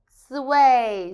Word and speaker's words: 岁: the tongues plan way first time way sweet sway sweet sweet very good now let's write gala